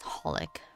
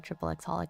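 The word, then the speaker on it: xxxHOLiC: It's actually just hollic rather than triple x holic, but you know, holic.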